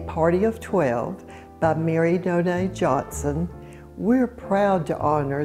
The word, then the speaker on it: Noailles: So let's talk about Mary, and her middle name is pronounced Noailles. That's how the family has pronounced it. Noailles, and it is spelled Noailles.